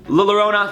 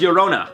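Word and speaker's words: Llorona: think annabelle i would say annabelle devwa said lerona this is how i said it it's pronounced yorona i knew i was going to mess it up and i'll say it again i was i said lila rona and i knew it was wrong but i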